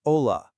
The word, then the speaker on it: hola: In Spanish, it's just hola. And figuring out the why behind that, well, that's our first key to cracking this whole thing. So, that one little silent letter in hola, it's the perfect lead-in